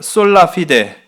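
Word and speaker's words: sola fide: 솔라 피데. 이게 피데, 이게 발음이 좀 중요해. 피데 이렇게 좀 세는 것처럼.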